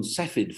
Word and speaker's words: Cepheid: I have to say that I call them Cepheid variables, and I call it delta Cephi.